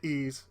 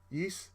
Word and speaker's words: Ys: this is covering the entire timeline of the ease franchise now most people I don't know why some people will call it ye or tce but it's pronounced is so here we go and mind you I